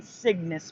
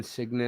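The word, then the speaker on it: Cygnus: Centaurus the Orion signus arm never heard Orion signis before and then the Karina Sagittarius arm not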